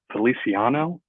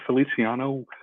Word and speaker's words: Feliciano: gonna go with resigning I'm not sure if I'm pronouncing his name right but Feliciano is that how you pronounce it yeah Feliciano Mike Feliciano did I